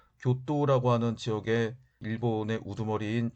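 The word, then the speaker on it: 京都: 12 세기 라고 하는데 현재 경도 일본어 발음으로 교 또 라고 하는 지역의 일본의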